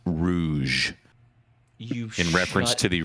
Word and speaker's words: Rouge: from the Detroit area but when you said Rogue that word is pronounced Rouge you in reference to the Rouge hunsville you